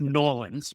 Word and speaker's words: New Orleans: Although I'm going to mispronounce it, I'm going to say New Orleans. I think it's pronounced Nawlins, but I live north of the Mason-Dixon line, so you'll have to give me a little bit of grace.